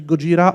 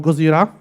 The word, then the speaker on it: Gojira: need to mention them the Japanese name is actually Gojira or Gojira how depending how they spell it in the movie